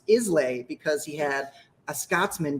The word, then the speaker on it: Islay: just do it no so it is isla it's isla yeah but basically a